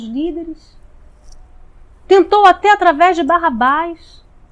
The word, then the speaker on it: Barrabás: Bar-Abás, na verdade, é o nome dele. Bar significa filho e Aba, pai. Então Barrabás, que na verdade a pronúncia seria Baraba, Bar-Aba, né? Que para nós é Barrabás, na verdade é filho do pai.